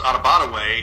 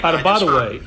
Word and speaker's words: Adebawore: Coach Douglas, when he was in high school, said it was Adebawore. Adebawore, okay.